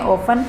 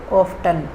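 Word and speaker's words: often: ऑफन के दो pronunciation होते हैं। ऑफन, कुछ लोग इसको ऑफन बोलते हैं, कुछ लोग बोलते हैं इसको ऑफ्टन। दोनों ही प्रोनाउंसिएशन सही हैं। मैं इसको ऑफन प्रोनाउंस करती हूँ क्योंकि मुझे ये पसंद है। आप जो आपको पसंद है आप वो इसको प्रोनाउंस कर सकते हैं, ऑफन भी कर सकते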